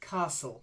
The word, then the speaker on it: castle: the first word is Castle or Castle but it's a silent T it's like the T isn't there Castle try it Castle